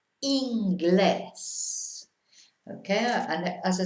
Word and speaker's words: Inglés: So in English this is an I, but of course in Spanish it's an E. Inglés, always E sound, never any different. So we have to remember that I is E in Spanish.